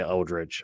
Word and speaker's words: Eldritch: I really enjoyed it it's the eldrid Knight or eldri Knight I always say eldrich I always think of it as a l instead of that that k sound at the end um are one of